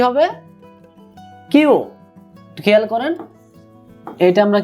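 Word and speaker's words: きゅう: এই কিউটার রোমাজ উচ্চারণ কেমন হবে, ডবল ইউ। বাংলায় কিউ আর একটা উ, ছোটটা টান হবে আর কি, কিউ।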